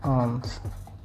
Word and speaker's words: alms: मतलब ये प्रोनाउंसिएशन है और ये हम कह सकते हैं आर्म्स। समझ में आया? दान देने से इंसान प्रसिद्ध बनता है। अ man becomes फेमस by giving आर्म्स।